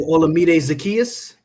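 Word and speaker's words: Olamide Zaccheaus: Oh, Olamide Zacchaeus. You said it. Yeah, I was going to try to. I don't need to butcher nobody's name. Look like a fool. Nope. Olamide Zacchaeus.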